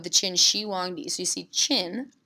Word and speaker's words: Qin: Qin Shi Huangdi CC chin pronounced like a chin lip the chin on your face the Qin Dynasty was